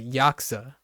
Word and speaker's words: Yakuza: actor for multiple roles once someone said Yakuza once only once though and then the rest are saying like uh Yak Yakuza right but a lot of times it gets cut even shorter for like the older like the other Japanese speakers up to this point and they would say yaksa which is like key